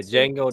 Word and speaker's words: Django: I got Django. The D is silent.